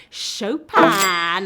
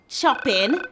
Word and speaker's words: Chopin: classic piano banger the Polish child prodigy Chopin oh you don't pronounce it choppin be chopped that one